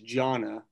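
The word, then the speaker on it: Johna: Just for the record, it is Jonna, and she's a good friend of mine and would be a wonderful addition to the commission.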